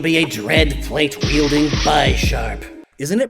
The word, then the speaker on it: Bisharp: my team would be a dread plate wielding B Sharp isn't it pronounced Bisharp what because of the chess piece what about